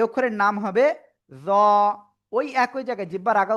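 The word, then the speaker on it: ز: এ অক্ষরের নাম হবে জ। ওই একই জায়গায় জিহ্বার আগা উপরের দিতের আগা এরকম লাগবে। লাগিয়ে একটু মোটা আওয়াজে উচ্চারণ করতে হবে।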